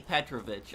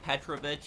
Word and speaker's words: Petrovich: it right here Kenny petrovich but for people wondering why I'm saying petrovich is because the English pronunciation be Petrovic but I'm just saying it how the Russian characters would say Petrovic but Kenny titrovich um